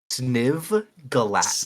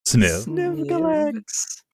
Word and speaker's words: Sniv Galax: Sniv Galax. Sniv. Sniv Galax. Sniv. Galax. Yes. Relax.